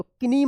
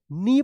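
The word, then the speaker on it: knee: नी देखिए यहां पे के एन डबल ई तो किनी मत पढ़िएगा इसको। क्या पढ़ा जाएगा? नी पढ़े जाएगा। के एन से पहले के है तो के साइलेंट रहेगा।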